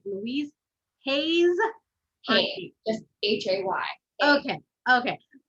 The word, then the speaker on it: Hay: asked you how to say her name louise hayes hey just h-a-y okay okay so you read